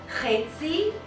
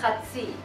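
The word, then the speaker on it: חצי: Now we have two pronunciations. Chetzi and chatzi.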